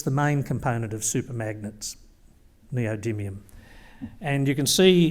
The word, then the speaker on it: neodymium: This is our main mineral commodity, neodymium, and we'd like you all to learn how to pronounce that name.